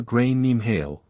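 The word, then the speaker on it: Gráinne Ní Mháille: They called her grain neem hail or grace ali if you're trying to pronounce it without embarrassing yourself.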